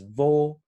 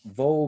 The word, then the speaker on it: wo: And the German wo is pronounced with a V, but in English, woe, W-O-E, is a kind of despair or difficulty or turmoil, the negative thing.